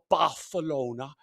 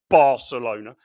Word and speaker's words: Barcelona: It's not Baralona, it's Barcelona. You're a Milwolf fan, right?